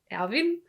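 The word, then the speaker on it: Erwin: yeah that comes from irvin and then we have um or evan alvin if we should stick by the more european yeah german pronunciation um alvin smith alvin yeah uh so but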